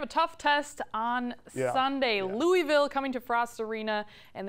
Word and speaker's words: Louisville: that matchup they're impressive Louisville Louisville how do you say it Louisville Louisville Louisville is what we're gonna go with but this is gonna